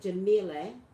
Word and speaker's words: Jemele: In any case, Jemele, how do you pronounce it? Jemele.